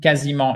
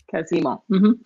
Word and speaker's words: quasiment: Pretty much the same, quasiment identiques. Sorry. Quasiment. So I'm glad I know how to pronounce quasiment now.